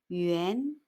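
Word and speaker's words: 元: 중국어로는 yuan 이성, yuan 하고 소리냅니다. 화폐 단위 원, yuan, 알파벳 UAN은 U를 U 소리로 짧게 발음하고 A를 아 소리로 길게 발음합니다. UAN, 우안.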